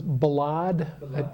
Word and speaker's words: Balad: I deployed um for pronounce the town name it was balad that that's the typical Western way to I'm sure there's